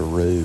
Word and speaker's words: roux: There's a lot of silent letters and all these fancy cooking terms. There's an X in both mirepoix and roux, and I don't hear any X anywhere in it.